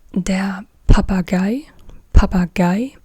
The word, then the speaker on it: Papagei: So yeah, here we have the parrot, and this is der Papagei, the parrot, der Papagei.